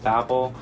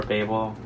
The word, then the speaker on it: Babel: the month, which is Babel or Babel, however way you want to pronounce it. Both of them are the right way to say it.